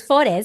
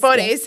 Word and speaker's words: Forres: It's not that. So it's Forres. Forres.